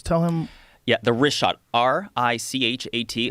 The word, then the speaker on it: Richat: yeah, the Richat, R-I-C-H-A-T. It's worth mentioning he's that. got it already here. Yeah, in the Now- first couple, I just want to say it's Richat. I used to call it Ricot.